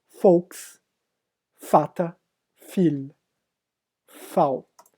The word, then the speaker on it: Vater: No alemão, o V não se lê V, se lê Fal. Tá entre aspas aí a pronúncia, Fal, exatamente isso. Como na palavra Volks. E aí vocês lembram Volkswagen, né?